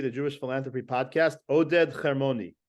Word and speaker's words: Hermoni: I'd like to welcome to the JPP, the Jewish Philanthropy Podcast, Oded Hermoni. Hermoni. You said it right. In Hebrew, it's Hermoni. In English, it's Hermoni.